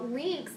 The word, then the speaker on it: LINCS: today is called the lynx vocabulary strategy now links is an acronym and it's spelled l-i-n-c-s now first link else